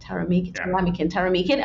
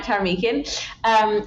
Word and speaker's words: Taramykin: The second most popular is Taramykin, which is how I pronounce it. Taramykin. Okay, Mike Taramykin, founder and CEO of